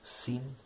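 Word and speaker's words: שׂ: Dann hat das Shin die Besonderheit, dass es auch eine Variante der Aussprache mit S, also quasi mit Samech gibt. Dann wird zu Hilfe ein Punkt links oben über dem Shin gemacht, anstatt rechts oben. Rechts oben ist das Shin, also die rechtsseitige Aussprache ist das Shin, die linksseitige das Sin.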